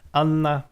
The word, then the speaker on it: Anna: Anna is kind of easy, accent on the first syllable.